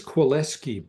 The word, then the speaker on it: Kwilecki: Is it Kwilecki? I don't know how to pronounce that. His name is Kwilecki, Paul Kwilecki. Oh, is that a typo there? No, that's how you pronounce it.